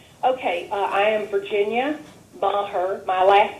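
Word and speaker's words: Meagher: my public comment okay uh I am Virginia M her my last name is spelled m e a g h e r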